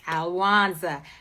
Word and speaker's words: Alwonza: leave those and pass those seeds along right alanza it's easy to say my name it's not hard it's alanza say it share it with someone Google me